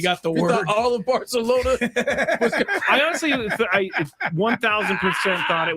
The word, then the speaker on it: Barcelona: Barcelona. That's how you say it. And not how you say it.